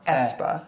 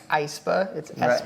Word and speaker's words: aespa: like the ae but in their name it's pronounced espa it's not like iceber like so i find